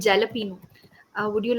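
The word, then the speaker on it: jalapeño: you have the topping which people mostly call jalapeno uh would you like to pronounce that is jalapeno the correct pronunciation another new word for me okay jalop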